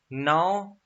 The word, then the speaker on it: gnaw: Gnaw is, the G is silent here, is when you bite something.